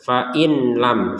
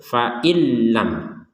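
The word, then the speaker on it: فإن لم: faillam itu salah itu atau dibaca dengan jelas Fain lam Fain lam salah baca dengung salah baca jelas salah ambil pertengahan eh bukan ambil pertengahan dimasukkan tanpa dengungan faillam nah sekali lagi kalau dibaca faillam salah dibaca faainam salah juga yang betul faillam langsung saja faillam taf'alu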